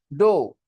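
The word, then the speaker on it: dough: लोग डो क्या कहते उसको डो spelling डी ओ यू जी एच डी ओ यू डो पहले आपके पास मैदा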